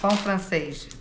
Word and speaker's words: pão francês: Pão francês, like French bread.